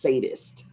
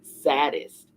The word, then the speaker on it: sadist: That's sadist, not saddest. Charles Wallace said and giggled again. Lots of people don't pronounce it correctly.